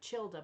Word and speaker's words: Childe: He actually got his name, which is spelled like Childe, but it's pronounced Child, from his uncle.